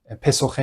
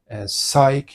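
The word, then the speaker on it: Psyche: تا جایی که می‌دونم تلفظ درست نام این خانم پسوخه نیست بلکه سایک یا سایکی هست ریشه علمی که امروزه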